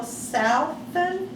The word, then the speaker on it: Salfen: and joe turner and i are talking to mr uh southen is that how you pronounce your name correct can you spell it